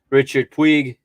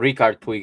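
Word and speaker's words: Riqui Puig: had emerson samuel umtiti nico gonzalez alejandro balde richard twig or ricardo twig excuse me ray manage alex collado enachi pena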